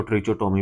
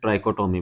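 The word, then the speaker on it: trichotomy: इसको ट्रिचोटोमी भी पढ़ते हैं, ट्राइकोटोमी भी पढ़ते हैं।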